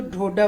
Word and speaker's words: डोडा: Other wise अगर हम पंजाबी लोग हिंदी में प्रोनाउंस करें इसको तो डोडा बर्फी बोलेंगे। डोडा नहीं डोडा।